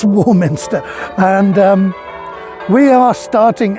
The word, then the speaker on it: Warminster: town of Warminster uh Warminster um to the best of my knowledge pronounced as it is written which makes it something of a rarity among English towns you know it's not uh it's not ramster or or anything like that it's it's Warminster and